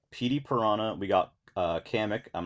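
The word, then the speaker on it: Kamek: also I usually say kamik that's how I pronounce it but I could I I could actually see it being pronounced as comic because it sounds like a more Japanese like pronunciation yeah the one that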